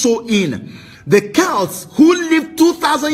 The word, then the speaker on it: Samhain: ancient celtic festival of samhain pronounced so in the celts who lived